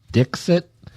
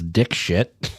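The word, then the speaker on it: Dikshit: And, well, I guess her last name is pronounced Dixit, but he was pronouncing it as dick shit.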